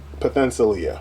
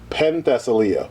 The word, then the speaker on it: Penthesilea: But anyway, Potentialia. Why Potentialia? Penthesilea.